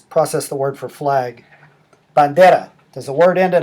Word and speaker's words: bandera: In this case, the stress is on the next to last syllable.